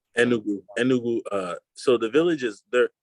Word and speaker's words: Enugu: So it was in remind me the pronunciation, Ngugu, right? No. Enugu.